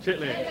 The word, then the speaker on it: chitterlings: Fried chicken and cornbread dressing, collard greens mixed with smoked ham hocks, cha-cha pickles, chicken and dumplings, pronounced dumplings, chitterlings, please, the word is what? Chitlins.